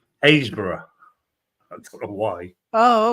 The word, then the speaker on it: Happisburgh: There's a place called it's spelt HAPPISBURGH.